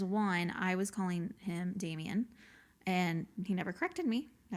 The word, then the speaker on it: Damian: She's like, it's Damien.